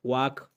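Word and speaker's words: walk: पहले जहाँ पे एल हो तो वो भी साइलेंट हो जाता है। वाक, के से पहले एल हो तो वो भी खामोश हो जाता है।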